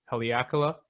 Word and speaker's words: Haleakala: We did I always mispronounce it. I think it's Haleakala.